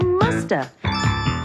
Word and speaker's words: must have: mean must have been we can say massive in conversation and sometimes we don't pronounce the V and so you hear Musta she must have been